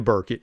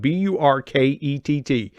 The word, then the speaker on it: Burkett: And that is my guest, Anita Burkett.